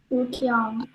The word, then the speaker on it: Pukyong: Pukyong. Pukyong. Pukyong Kyong. Pakai O ya. Pukyong KYONG Pukyong dah gitu deh.